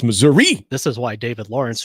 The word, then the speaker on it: Missouri: I ever went to only people in southern Missouri call it Missoura right like nobody in